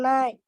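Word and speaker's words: knight: Sama bacanya dengan malam. In the place the night.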